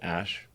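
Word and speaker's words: Æ: Um and then the AE is like pronounced ash.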